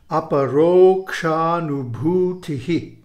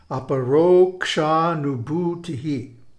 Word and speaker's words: Aparokṣānubhūtiḥ: The Sanskrit of Aparokṣānubhūtiḥ can be broken up into syllables. A, pa, ro, ksha, nu, bhu, ti, hi. And this is a rhythmic sound. It has a time signature. It has a mātrā, which means a meter. And here I've illustrated it with a kind of Morse code. Dit dit da da dit da dit dit. So it's pronounced with a meter.